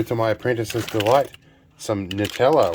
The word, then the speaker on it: Nutella: Also, to my apprentice's delight, some Nutella, or Nutella as it's technically meant to be pronounced, but I'm Aussie, so we're going to call it Nutella.